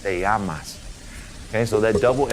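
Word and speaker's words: llamas: The double L sounds like Y in a sentence. So this word right here, L L A M A S is pronounced Yamas. Yamas as in what's your name?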